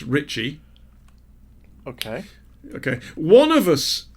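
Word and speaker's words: Ricci: name RICC I Ricky is pronounced Ritchie okay okay one of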